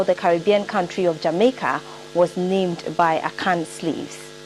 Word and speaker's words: Jamaica: In our conversion, we say Jama Yaka. Jama Yaka. Jama means perhaps to stay permanently Yaka. So Jama Yaka. So continue pronunciation, the Anglicized they make it Jamaica, Jamaica, Jamaica.